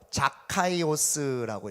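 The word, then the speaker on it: Ζακχαῖος: 그랬더니 삭개오라는 이름은요 헬라어로 자카이오스라고 읽어요.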